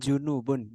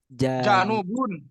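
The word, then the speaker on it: جنوب: samalun galun nah ini bacanya janubun Ya januban bukan junubun janub janubun janubun kan ya janubun janun bukan pakai Dom bukan junubun salahubun janubun janubun gbah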